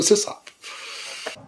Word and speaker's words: sysop: It's a SysOp. Oh, by the way, I say SYSOP, not SysOp, so...